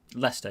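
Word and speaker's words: Leicester: Lester.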